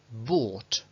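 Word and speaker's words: bought: la H para nada Lo que se escucha es una B una o larga y directamente la t but pero de estas además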